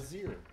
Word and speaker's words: Bézier: Bezier. Bezier. Bezier. Three syllables.